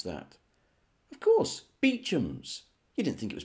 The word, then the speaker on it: Beauchamp: see on your screen now how do you pronounce that of course beechums you didn't think it was pronounced beauchamps did you you idiot what about this one